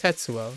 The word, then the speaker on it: Tetsuo: or was it tatsuo it's tetsuo right so but it's actually the first syllable so like it's not